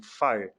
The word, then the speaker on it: FHIR: O F-H-I-R, a gente pronuncia fogo mesmo, FIRE.